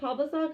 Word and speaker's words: Pavlicek: It's Henry Pavlicek. I'll spell it HenryPavlicek. That's V as in Victor, not a B.